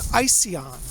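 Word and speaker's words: Ision: name greco-roman name and the name is icy on it's spelled is io in and I told a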